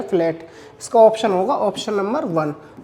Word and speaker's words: gnu: चौथा ऑप्शन दिया हुआ है मेरे पास न्यू।